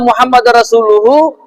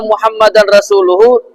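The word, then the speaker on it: مُحَمَّدًا رَسُولُهُ: Bacaan wa anna muhammadar rasuluhu adalah sudah mencukupi atau sah. Sedangkan wa anna muhammadan rasuluhu tidak cukup atau tidak sah.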